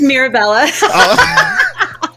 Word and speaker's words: Mirabella: It's just Mirabella.